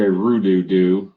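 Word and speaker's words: hrududu: So if you hear me say Roo-doo-doo, which is spelled with an H, by the way, I'm referring to cars, including trucks, or cars and trucks and buses, etc.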